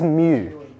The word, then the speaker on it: mu: This is mu, right? That's how you pronounce it.